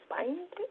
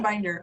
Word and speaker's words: Binder: I saw your name and I was like, wait, like a binder? Oh. Like a 3-ring binder. I know, and yeah, some people mispronounce it, but it's binder, Binder. So easy.